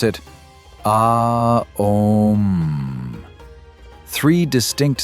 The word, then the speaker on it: Om: It's three sounds combined. A U M. When you chant Om correctly, you pronounce it aom.